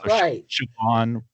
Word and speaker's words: Siobhan: Because you've got the SI is sh because of the S is before the thing. And a BH or an MH are pronounced kind of like a V.